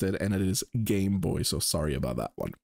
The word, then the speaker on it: Game Boy: my girlfriend just pointed out that apparently I mispronounced uh Game Boy I said gamboy which is essentially what we called it um